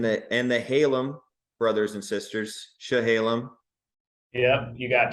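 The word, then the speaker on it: Chehalem: And the Halem brothers and sisters, Shahalem. Yep, you got Shahalem.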